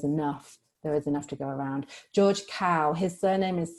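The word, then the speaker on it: Kao: enough there is enough to go around George cow his surname is spelled k a o and he's already done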